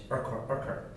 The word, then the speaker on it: Urquhart: Law Reform Scotland Bill, and how would you pronounce that last name? Urquhart.